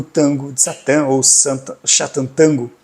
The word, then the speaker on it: Sátántangó: Mas por que que eu te desafio a ler o tango de Satã ou Satanango, como é a pronúncia correta no húngaro, ou tango, como a